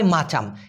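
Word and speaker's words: macam: এম এ সি এম উচ্চারণটা হয় মা এম এ মা তারপর হচ্ছে চা সি এ চা আর এম এ হলো ম তাহ মাচাম এই মাচাম মানে কিন্তু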